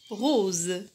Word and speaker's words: rose: La lettre S se prononce Z lorsqu'elle est placée entre deux voyelles, comme par exemple le mot rose.